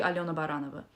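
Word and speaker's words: Aliona Baranova: over here at least I pronounced my surname in an English way so people find it easier it's actually Alona baranova say that please you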